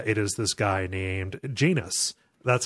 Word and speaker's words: Janus: is this guy named Janus that's how they pronounce it as not yanus you know it's not like the Greek god it's Janus like anus um is how they